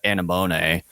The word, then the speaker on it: anemone: It's pronounced anemone. That's how you say it.